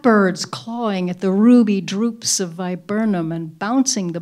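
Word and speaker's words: drupe: think about writing and the word droop which is in the first line is spelled d r u p it's not the verb to droop but it's a it's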